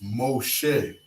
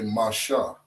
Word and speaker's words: Moshe: So instead of saying Shah, they would say Shay. Instead of saying Ma, they would say Mo. Right? So they would pronounce this Moshe. Okay? But in the ancient tongue, the Lashawan Qadash, we would say Masha.